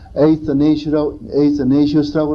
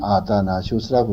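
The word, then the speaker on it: Athanasius: 영어로 발음은 에이스네시우스라고 그러는데 우리 한국 사람들은 아다나시우스라고 그러죠.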